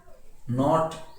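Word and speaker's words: knot: नॉब के शांत है, नॉक के शांत है, नॉट के शांत है, नो के शांत है, नॉलेज के शांत है, और नकल के साइलेंट है।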